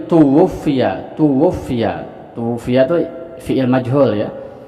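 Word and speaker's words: تُوُفِّيَ: Jadi dibacanya tuwfiya.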